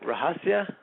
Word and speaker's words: Rahasya: did I did I say your name right rahasia yes you did oh it usually gets butchered but that's pretty good all right so